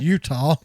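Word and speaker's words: Eutaw: particular Utah Alabama it's spelled etawah but it's pronounced Utah in Utah Alabama he wanted his free weey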